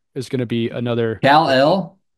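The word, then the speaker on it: Kel'el: I think Khalil Ware is going to be another Kal-El. Cal L is how you say it.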